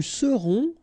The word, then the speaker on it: serons: Nous serons. So final S not pronounced.